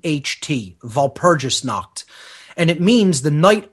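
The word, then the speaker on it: Walpurgisnacht: has been called Val Puris kned vgis KN is spelled w a l p uur g i s n a c HT vgis knocked and it means the Knight of Val purgis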